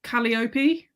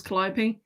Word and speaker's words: Calliope: clytemnestra uh calliope um well she says in the audiobook calliope which i always thought it was callipe um and i said